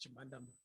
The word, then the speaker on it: Chimhandamba: very much i think you almost got my name correct i struggled with it for quite some time when i was growing up only after varsity i managed to get through it but it's pronounced to mandama um government ads for